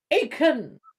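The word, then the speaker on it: Aken: Do you mean Akon as a singer? That's how you spell it? Huh? You mean Akon as a singer? Akon? No? Aiken. Akon. A-K-E-N.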